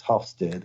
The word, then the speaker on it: Hofstede: to pronounce his name I think it's Hofstede HOF Ste de that